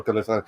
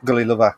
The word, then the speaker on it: Gullilover: enjoyed it trans has enjoyed it i'm sure gulliver gully lover games i keep saying why you've been saying